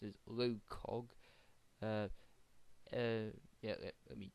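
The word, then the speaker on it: LOCOG: a parody the proper name I believe is pronounced as low Cog uh uh yeah let me double check that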